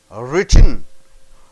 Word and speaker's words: written: to remember is that you need a sharp upward sliding intonation intonation means what sounds going up and down up to the he then a quick drop for the end say how do you say w r i t t n written written so written it drops to Y so written kitten sence